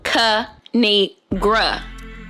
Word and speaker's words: Kinigra: me tell y'all a thing of three it's pronounced kanigra now subscribe I crack myself up thanks for